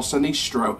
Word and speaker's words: Sinistro: So first of all, Circo Sinestro, or Sinistro as it's pronounced.